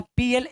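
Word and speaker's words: plague: यहां पे ध्यान देना पल aguv लास्ट में इसमें क्या है गई आया तो ये यू जो बीच वाला है ये क्या हो जाएगा साइलेंट तो स्पेलिंग क्या बचे पी एल ए जी प्ले प्ले mince महामारी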